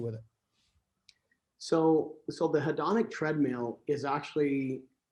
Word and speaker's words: hedonic: hedrick treadmill is that right that's how you pronounce the hedrick treadmill yeah hedrick or hedonic treadmill hedonic okay all right so explain to the audience